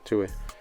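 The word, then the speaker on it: Tuohy: Blaming the Tui family. Right? Is that how you say it? Yeah, Tui.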